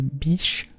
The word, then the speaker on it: Bich: Mais c'est grâce à un homme d'affaires français, le baron Marcel Bich, ou Bic, c'est B-I-C-H, alors vous le prononcez comme vous le voulez, que le stylo à billes connaît un essor commercial dans le monde entier.